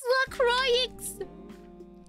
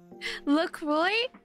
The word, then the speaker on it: LaCroix: bundled up in the winter yeah it is la croix it's lacroix how did you know i got